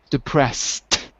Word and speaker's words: depressed: There's d, like removed, tid, like exhausted, and t, just a T, not ed, but just T, as in depressed.